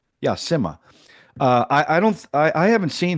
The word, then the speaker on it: Simha: Yeah, Simha.